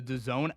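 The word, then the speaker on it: DAZN: You're going to download the Done app. And to spell it, go ahead. D A ZN pronounced Done.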